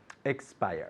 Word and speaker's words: expire: expiry date so expire expire good and at home make sure you're putting lots of emphasis on X it's not Spire it's X buyer two syllables expire very good okay keep